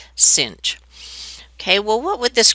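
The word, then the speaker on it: sinh: of x so it's written like this with a sine but then an h after it and it's actually pronounced cinch don't ask me where the comes from but this is pronounced cinch okay well what would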